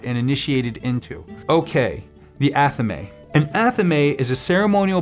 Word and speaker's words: athame: Some say Athame and some will say Athame, and I've even heard others say Atham or Athame. I call it an Athame.